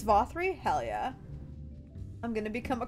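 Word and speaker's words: Vauthry: paddles a toast the Lord vossery it's vothri Hellyeah I'm gonna become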